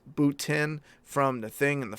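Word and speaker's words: Bottin: of the dead or Rob button pronounced boot in from the thing and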